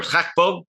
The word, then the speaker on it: Gakpo: Gakpo.